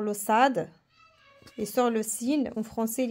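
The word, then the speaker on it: س: Et ça, c'est le Sin qui représente le S. Sin.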